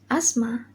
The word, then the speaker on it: asthma: The next is letter TH. Example: asthma, isma, nor, and Easter.